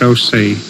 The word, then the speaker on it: Osa: name is osie my first name is spelled Osa and it's pronounced OC I was named after